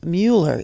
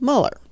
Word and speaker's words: Muller: some folks tend to mispronounce his last name as Mueller instead of Muller.